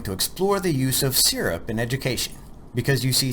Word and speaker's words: SIRP: In this lesson we're going to explore the use of SIRP in education because you see SIRP makes learning sticky and we want learning to stick. It's pronounced like "syrup," Texas style. syrup so what do we